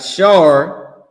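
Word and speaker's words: שר: We got Shar, which they saying is Sar, but we don't even use their pronunciation anyway.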